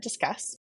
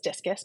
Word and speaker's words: Discuss: I ended up at discuss okay everyone thinks it's discus because of how it's spelled good but it's disc like know disc the license with spelling